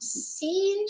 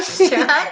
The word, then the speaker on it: Sean: Scene. Sean. Oh, Sean. Sean. What's up, Sean? Nice scene. No, it's not Scene, Lisa D. It's Sean. That's how we pronounce it. It's Sean. SHAWN. Sean. Hello.